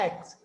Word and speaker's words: aches: It's not HS, beta. CH is pronouncing, CH should be pronounced here as you have heard about the headache. This is that kind of the aches.